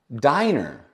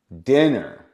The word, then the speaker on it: dinner: once in a while why is this not Diner Diner because the e can only jump one consonant dinner if we have two